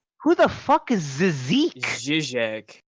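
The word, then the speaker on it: Žižek: Zizek. It's Zizek. Yeah, I'm not pronouncing that, bud. Zeke. It's easier than Zizek. Yeah. Well, it's just a de like it's a mix of a D and a Z.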